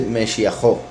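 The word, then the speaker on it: משיחו: Aquí su ungido, como dije ahora, cuando estaba explicando lo de la letra Vav, la letra Vav se pronuncia como O cuando funciona como posesión y se pone al final de la palabra que pertenece a la persona.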